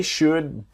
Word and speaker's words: should: They should be able to help you. So they should. Remember, the L in should is silent.